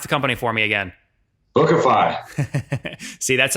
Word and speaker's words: Bookafy: per month so healthy economics from casey casey pronounced the company for me again bookify see that's how you make sure you don't